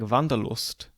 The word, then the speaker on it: Wanderlust: for a word like vanderlust or wanderlust as it's often pronounced in its integrated form we could describe it